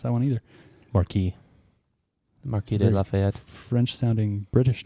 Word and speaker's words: Marquess: I don't know how to pronounce that one either. Marquis.